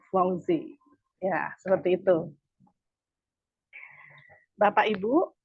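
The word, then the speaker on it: Givenchy: itu if song lorang kemudian gensi juga kita di sini dalam bahasa Prancisnya itu dibaca zongzi ya seperti itu bapak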